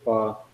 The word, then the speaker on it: pho: Best bowl of pho I ever had was in the Bronx in New York, 5-6 years ago.